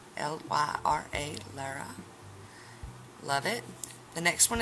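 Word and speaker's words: Lyra: one is the pink one and it is Lara Lara ly RA Lara loved it the next one is the reddish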